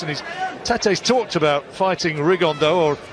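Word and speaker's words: Rigondeaux: he's talked about fighting rigondo or as he's correctly pronounced with the uh spanish accent rig on dao and two absolute geniuses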